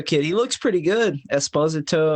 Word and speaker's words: Esposito: he looks pretty good Esposito I think was how it was pronounced Italian ish but I'm not Italian